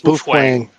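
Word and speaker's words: Baofeng: It's uh and we all say ba fang. Bofang. It's bofang.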